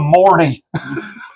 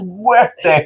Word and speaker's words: Muerte: But they kept mispronouncing his name, calling him Morty. Like, Morty, what's going on? It's like, it's no Morty, it's Muerte.